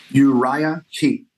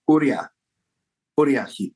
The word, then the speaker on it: Uriah Heep: Uriah Heep, yes. Sometimes in the eastern part, they say Uriah Heep. Okay. So, and even Russia, it's more Uriah Heep. Oh yeah, like the Polish, it would be Uriah, something like that.